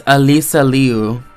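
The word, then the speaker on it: Alysa Liu: Oh my god, it's Alisa Leu. I've been pronouncing it wrong this whole time.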